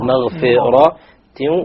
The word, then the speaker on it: مغفرة: Again, this is a common mistake. Maghfira, maghfira. No, it is maghfiratin wa dhu iqabin Alim, the tanween will have idghar because there is an alif there.